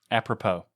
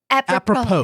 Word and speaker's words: apropos: Then take a look at how's it pronounced? Apropos. Apropos.